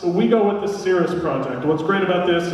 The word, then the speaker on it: Caerus: little bit of intro here so some people pronounce it cirrus keris keras we go with the cirrus project what's great about this is cirrus is